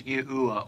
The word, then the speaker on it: Yahuwah: the phonetic sounding of God's sacred name as Yahuwah or Yahu.